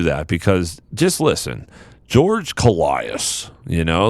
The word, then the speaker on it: Kollias: today and i know i said that wrong it's coleus because i've seen lots of videos and of him and that's how he introduces himself but man if you're